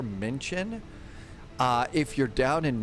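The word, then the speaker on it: München: you're down in like Munchin, uh Menchin, I've always been pronouncing the U a little bit too much. It's more mention.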